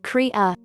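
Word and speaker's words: cría: a baby llama is called a crya which is spanish for baby it's pronounced kriya baby alpacas the cunhas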